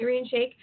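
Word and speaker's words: Irina Shayk: oh my gosh what how do you say her name Shake is that arene shake yeah yeah arene shake oh my gosh so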